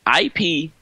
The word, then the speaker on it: ipamorelin: It's spelled IPAMOrelin, and I'm going to pronounce it as Ipamorelin.